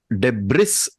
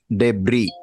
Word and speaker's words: debris: And when she said debris, it has to be pronounced debris. Okay, it is not Debris. pronounced as the S is silent.